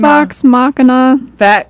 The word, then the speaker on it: Vox Machina: Vox Machina.